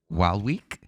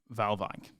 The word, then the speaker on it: Waalwijk: I would say RKC Waalwijk is how I would pronounce that. But once again, I'm not Dutch.